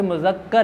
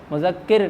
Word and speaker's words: مذکر: غلط بنا دیتا ہے، جیسے مذکر یا مذکر، کیوں بھی بچو، مذکر یا مذکر، یہ مذکر ہے، مذکر نہیں ہے، کیونکہ مذکر وہ الگ